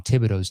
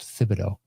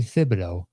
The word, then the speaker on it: Thibodeau: first whereas the knicks are viewed as tom thibodeau's team first or thibodeau actually it's pronounced thibodeaux by the way uh i still say tibs